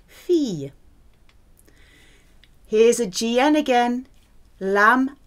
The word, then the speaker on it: fille: I double L is pronounced E, fille. It's not fille, it's pronounced fille.